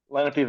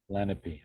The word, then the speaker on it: Lenape: how do you pronounce that? Lenape Valley region. Lenape.